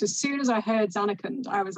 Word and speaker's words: Zanarkand: I'm going to pronounce this wrong. Is it Zanarkand? Oh, Zanarkand.